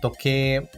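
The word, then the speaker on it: 時計: porta mesmo em seguida temos toqu toqu toqu é relógio prestando atenção ao prolongamento do som do e na sílaba q mas que é escrito com hiragana i logo to depois Caçar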